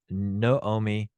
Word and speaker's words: Naomi: actually a kamatz Katan which gives it the o sound so you have no Omi and yes you're correct